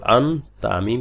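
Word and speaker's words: أنتم: আন তামিম পেশতুম আনতুম ঠিক এই নুন সাকিনের গুন্নাটা কোথায় গিয়ে হবে তা এর মাখরাজে গিয়ে এই গুন্নাটা হবে হামজা নুন জবর আন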